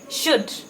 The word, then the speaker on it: should: Another set is there, the S dash OU dash D, should. Here, UL sound is silent, SHOULD, should.